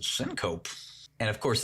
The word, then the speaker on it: syncope: Like, for example, one of the first things I circled was a strange word called syncope. That's how I pronounced it.